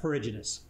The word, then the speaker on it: perigynous: then is called perry around ginus and we pronounce that perigenus so it's the progenist flower now there is